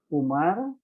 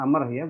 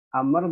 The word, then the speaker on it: Amr: Sony telah menceritakan kepadaku siapa Umar bin al-haris ini bacanya Amer Batumarta Amr Bin al-haris nah nah kemudian kata